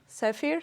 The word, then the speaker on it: Zephyr: How do you pronounce it properly? Zephyr.